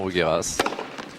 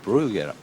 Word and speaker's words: Bruguera: faite bien longue surprenant rugeras rugera pardon sans s yes brugera Sergi on nous a